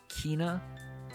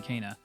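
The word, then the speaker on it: Kena: think we we were we kept saying uh kina bridge of spirits but it's it's cana canine cana is pronounced cana that is cana bridge of spirits the state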